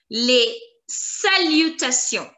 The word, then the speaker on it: salutations: And the pronunciation of T-I-O-N-S is going to be salutation, salutation, T-I-O-N-S, sion, sion, sion, sion. Together, les salutations, les salutations.